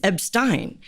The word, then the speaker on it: Ebstyne: It is Ebstyne, but it is a derivative of Epstein.